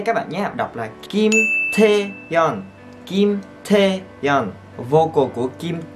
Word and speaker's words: Kim Taeyeon: Kim Taeyeon. T, trong chữ T này các bạn phải đọc bực hơi lên là T. T các bạn nhé, đọc là Kim Taeyeon.